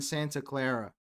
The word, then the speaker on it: Santa Clara: You don't roll your R in Santa Clara in Spanish.